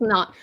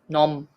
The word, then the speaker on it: nom: Well, obviously we don't say it like that, but that's why it's hard to explain. But this means name, and it's no. It's like almost saying no in French.